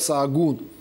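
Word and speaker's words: Sahagún: Называется этот город Саагун. Ача посередине в испанском языке не читается.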